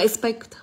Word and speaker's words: expect: Ý D của chúng ta tới đọc là, từ đấy của chúng ta đọc là, đọc là expect. Đọc là expect.